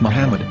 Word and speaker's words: Muhammad: Ben yehuda's Hebrew English dictionary it is correctly pronounced as Muhammad not mmad so how we're going to know